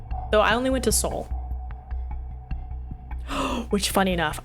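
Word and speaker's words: Seoul: Soul which funny enough I learned how some people pronounce that City's name is seal and I was like what they're like yeah I'm going to seal and I was like you and I'm like looking I'm like soul and they're like yeah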